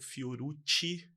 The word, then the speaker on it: Fiorucci: E para começarmos, e o que aumenta bastante a minha satisfação, eu trouxe aqui o Rodolfo Fiorucci, pronunciei certo?